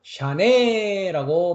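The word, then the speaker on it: שנה: 8141번을 가면 샤네라고 발음합니다.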